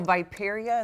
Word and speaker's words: riparia: So Viperia, is that how you say it?